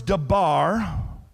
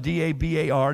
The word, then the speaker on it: dabar: I didn't give it to you, but they're the Hebrew words dabar. You would spell it D-A-B-A-R, dabar.